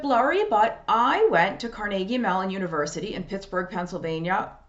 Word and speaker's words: Carnegie: But Carnegie Mellon, and I say Carnegie because if you live in Pittsburgh or you are familiar with the Andrew Carnegie family, the Carnegie clan, that's how you say it. It's Carnegie. It's not Carnegie.